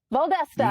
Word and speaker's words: Valdosta: or Valdesta. I don't know how they pronounce it. Valdosta, You got it right.